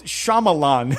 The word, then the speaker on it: Shyamalan: well, it looks like it's Shyamalan. That's how you say it.